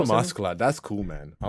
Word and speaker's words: Askeladd: I call him Askeladd. That's cool, man. I like that. All right. Yeah. Screw the haters. Askeladd. You don't want to say it like an American. Yeah, but he's an Ash lad, You gotta...